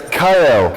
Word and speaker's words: Kyle: Kale, right? It's Kyle. Kyle, okay. Kyle. Sorry. Yeah, So, I've been getting Kiel my whole life. It's spelled like Kiel, German city. okay. But my mom pronounced Kyle.